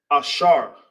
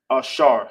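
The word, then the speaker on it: אשר: And how you say happy in the ancient in Hebrew is ashar. Uh, ashar. Yep, you got it. Happy. Happy in English. In the ancient Hebrew, it's pronounced ashar.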